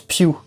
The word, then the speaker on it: Pugh: Alors apparemment, ça se prononce pas Pugh, ça se prononce Pugh. Parce que c'est comme Hugh, mais avec un P.